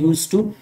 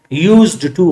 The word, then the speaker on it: used to: याद रखें यहां पे डी को हम नहीं पढ़ते, इसको पढ़ते हैं यूज टू, यूज्ड टू गलत होगा।